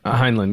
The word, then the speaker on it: Heinlein: Heinlein, yeah.